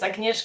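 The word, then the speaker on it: Agnieszka: And you are almost correct pronouncing my name, which is always a little bit of trouble in the international panel. So my name is Agnesh and I am a head of neural landscape NGO.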